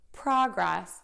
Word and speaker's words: progress: So to stress something, you're going to make it a little bit louder, the vowel a little bit longer, and the pitch a little bit higher than the other syllables in the word.